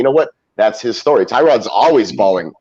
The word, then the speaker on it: Tyrod: Tyrod.